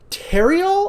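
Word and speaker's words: Therriault: And Nathan Cross is played by Michael Terriol, I believe is how it's actually pronounced.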